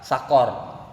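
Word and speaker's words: سقر: Nah, kalau yang ini enggak, huruf qafnya dia qafnya itu adalah fathah. Bacanya apa? Sakor.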